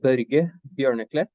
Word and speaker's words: Børge Bjørneklett: podcast series yes so my name is ber Beret it's a yeah it's a tricky name to pronounce sorry with o with a slash across the Scandinavian letter so um yes I'm